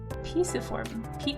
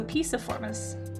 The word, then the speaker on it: Piciformes: Google pronounces it Piciform. Okay, so Piciformes.